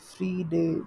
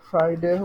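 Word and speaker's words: Friday: জি SA Thursday Thursday same goes for ফ্রাইডে ফ্রাই ফ্রিডে বলে না ফ্রাইডে hopefully মোটামুটি সবাই জানেন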